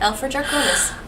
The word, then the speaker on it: Alpha Draconis: system, but it's called I can't pronounce this, Alpha Draconis. Is that how You pronounce pronounced it? that correctly, yes. Did I do it right? Alpha Draconis.